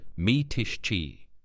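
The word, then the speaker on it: Mytishchi: Vulov lived the rest of his life in a one- room apartment in Mitishchi, pronounced Mitishchi, a Moscow suburb.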